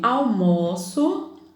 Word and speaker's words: almoço: Eu almoço sempre tarde. Almoço. Veja só. Almoço e almoço têm a mesma grafia, mesma escrita, mas a pronúncia é diferente. Almoço fechado, almoço aberto.